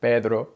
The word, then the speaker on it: Pedro: and pronounce it with the English D Pedro Pedro and then roll your R Pedro Pedro it's really really hard if instead you use the Spanish D Pedro Pedro Pedro that's very soft rolling